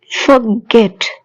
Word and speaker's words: forget: Forget, forget. Stress on last syllable.